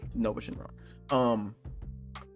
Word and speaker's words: Nuova Shenron: You got Oob and Majub, Omega Shenron, Super 17, and Nuova Shenron, or Nova Shenron. I like to say Nuova because that's how it's spelled, but Nova Shenron.